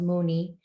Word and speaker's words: Muni: across this word um in filipinos it's actually pronounced mooney and it means to think deeply from within